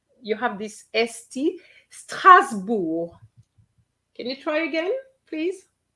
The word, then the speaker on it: Strasbourg: Okay, so that's why we hear a lot of Strasbourg, but it's Strasbourg in French.